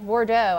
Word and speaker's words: Bordeaux: right now but u like bordeaux I guess there's a e au x you know so and the x is silent doesn't need it isn't